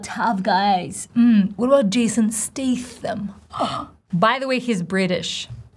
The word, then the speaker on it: Statham: Statham, Jason Statham, try with me.